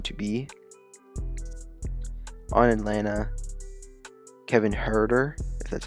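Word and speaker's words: Huerter: that is going to be on Atlanta Kevin herder that's how you say his name he's been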